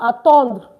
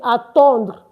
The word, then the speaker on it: attendre: We want to conjugate attendre. Of course, you don't pronounce the RE. I said that earlier. So we want to conjugate the attendre.